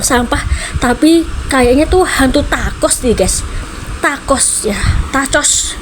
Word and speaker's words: tacos: Tapi kayaknya tuh hantu takos deh, Guys. Takos ya? Tacos maksudnya bacanya t a c.